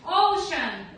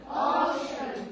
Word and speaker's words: ocean: River, River, desert, desert, ocean, ocean, ocean. ocean, Не надо читать океан, да? А читаем как?